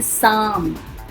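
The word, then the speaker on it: psalm: और साम में पी और एल दोनों ही साइलेंट हैं.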